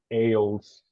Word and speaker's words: isles: The pronunciation is ales. Similar to island, right? In island, you don't say Iceland, you said island. In ales, you said ales, not ales. So ale is when you go to supermarket selectos, right?